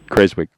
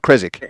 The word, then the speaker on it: Keswick: so um yeah and when you go to Keswick it's just Keswick yeah it's got nothing yeah so it's not the English pronunciation I took a pun on Keswick there yeah no it's not kic yeah Kik no it's not kic don't do that yeah so um Dave